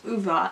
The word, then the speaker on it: Ove: I actually looked it up how to say his name because I always say a man called Ove, but it is actually a man called Uva.